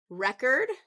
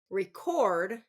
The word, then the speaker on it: record: with heteronyms is that for two syllable words if it's a noun it's first syllable stress if it's a verb it's second syllable stress address address now while